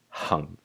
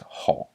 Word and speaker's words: 行: This character is usually pronounced hung. That's the written saying anyway, but this is like, this can also be pronounced hong.